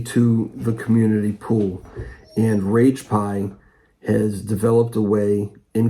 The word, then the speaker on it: Ragepiee: pronouncing your name right is it rage pie yes it is okay because there's an extra e so I wasn't sure if I was pronouncing it right yeah that's because uh